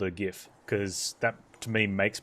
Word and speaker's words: GIF: It's pronounced GIF. Yeah, I agree. It's not GIF. You can be triggered all you want. The guy who made it calls it GIF.